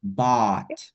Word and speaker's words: bought: Bout. Bout. Bout. Bout. Yes. Jadi kayak oh my God diganti b. Oh my bout.